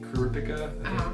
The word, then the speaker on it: Kurapika: And there's Kuripika, that's how you say his name.